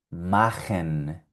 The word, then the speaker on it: machen: La CH suena como J.